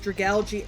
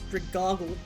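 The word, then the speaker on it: Dragalge: That I remember watching someone who pronounced dragali as dragle.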